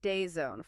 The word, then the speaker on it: DAZN: That's pronounced Dayzone for anyone wondering.